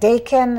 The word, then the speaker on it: Daikin: Is it Daikin?